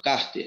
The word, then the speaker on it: cárter: Por exemplo, a peça do seu carro, cárter. Olha, a sílaba mais forte dessa palavra é o car.